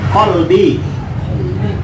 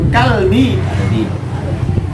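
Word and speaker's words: قلبي: Kan ada itu kalimat qalbi dengan kalbi. Bahaya tuh. Hati kalau qalbi.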